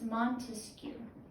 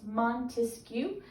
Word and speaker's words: Montesquieu: and this name is very french it's montesquiou okay and the best way to remember this guy is we're gonna remember he has three syllables to his name it's montesquiou we're just gonna remember